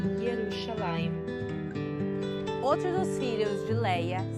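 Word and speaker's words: ירושלים: A bandeira de Jerusalém tem no meio o leão de Judá e em cima escrito Jerusalém em hebraico, que se pronuncia Yerushalayim.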